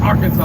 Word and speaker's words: Arkansas: And she's like, it's not Arkansas, it's Arkansas. I said, oh, so Toto, I don't think we're in Kansas anymore. How is that? Arkansas and Kansas, other than the AR, are spelt the same, but pronounced differently.